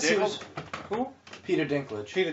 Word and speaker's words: Dinklage: Peter Dinklage. Peter Dickle.